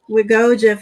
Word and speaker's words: WGOA: Is that how you pronounce it? Wiggoa Foundation.